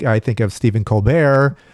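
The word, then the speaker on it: Colbert: I have to make sure because I like I think of Steven Colbear who does not pronounce the T but this Paul Rapaort character wants to mention all the letters because each and every letter is important.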